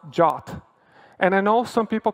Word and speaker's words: JWT: is pronounced like the Greek letter Omega it's pronounced jot and I know some people call it jot but more people call it jwtn including myself